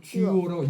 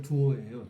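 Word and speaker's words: duo: 발음을 듀오. 듀오라고 영어식으로 한 거고 네. 원래 헬라어와 라틴어는 두오예요.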